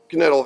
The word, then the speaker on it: Knittel: I'd like to introduce you to Knittel here. He pronounces the K because he's a stubborn German.